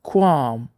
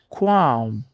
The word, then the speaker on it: qualm: Se a sua pendência é de natureza moral ou ética, use qualm ou qualm, a pronúncia que você preferir.